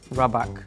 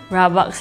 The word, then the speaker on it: rabak: Rabak. Rabak? Rabak? Yeah, rabak. Am I pronouncing it right? Okay, I think in Singaporean, like Singlish slang, you just have to go downwards.